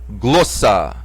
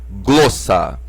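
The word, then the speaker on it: γλῶσσα: raro hamartía amartya pecado aqui temos a palavra grossa grossa aqui o acento tá em cima do Globo da sílaba Globo por isso que a sílaba forte Globo por isso que o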